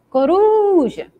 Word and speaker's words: coruja: Então, qual é a sílaba que se destacou? Ru. E é essa que está realmente ali em vermelho, né? Bem chamando a atenção. E qual é a posição dessa sílaba? Ela não é a última, então ela é a penúltima.